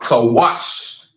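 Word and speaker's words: כוש: know what I'm saying it is pronounced kawash kawas now let me show you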